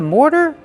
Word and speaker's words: mortar: Mortar. More plus the fast D.